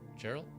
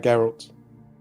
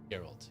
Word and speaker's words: Geralt: Gerald, how do you pronounce his name? Uh Geralt. Geralt.